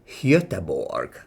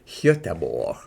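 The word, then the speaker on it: Göteborg: I know exceptionally well, this should be pronounced in Swedish as höteborg höteborg at least when I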